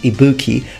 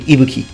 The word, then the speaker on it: Ibuki: that often is mispronounced the accent from people who don't speak Japanese tends to fall towards the second part and it becomes Ibuki but it's actually iuki iuki in Japanese now iuki has POS